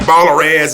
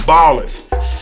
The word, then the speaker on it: BALLERZ: And so when I add the Z, it looks a little different, and people may pronounce it like BALLERZ or something crazy sometimes, but it's still the Ballers.